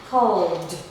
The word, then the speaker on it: called: Here we have the called, cleaned, offered, damaged, loved, used, followed, enjoyed. So that is for the d pronunciation of ed sound.